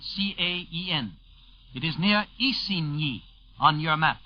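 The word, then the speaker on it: Isigny: miles northwest of khan khan by the way is spelled c-a-e-n it is near isinhi on your map spelled i-s-i-g-n-y three on the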